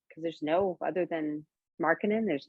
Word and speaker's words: Markkanen: Markkanen, thank you.